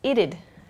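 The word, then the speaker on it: it'd: uh it would becomes ited this one's tricky ited ited ited is the pronunciation ited that would becomes Ved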